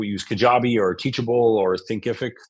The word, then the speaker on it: Thinkific: I'm going to go use Kajabi or Teachable or Thinkific. Thinkific is how you say it.